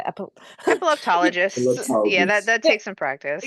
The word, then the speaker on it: epileptologist: Epileptologist.